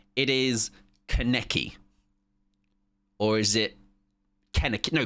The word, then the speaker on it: Kaneki: Kaneki. Kaneki. Kaneki. Kaneki. Kaneki. Kaneki. Or, no, Karneki. Karneki. Because I googled it. I looked at, like, pronunciations. Karn, like Star Trek.